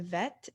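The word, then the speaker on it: ב: would go right here if there's a dot it's pronounced bet if there's not a dot it's pronounced vet and most often those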